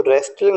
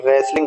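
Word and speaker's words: wrestling: ई एल आई एनजी तो यहां भी ध्यान देना है कि टी यहां पर साइलेंट है तो रेलिंग नहीं बोलेंगे रेसलिंग बोलेंगे यस क्या बोलेंगे रेसलिंग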